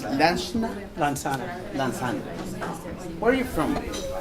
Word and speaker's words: Lansanah: How I pronounce? Lansanah? Lansanah.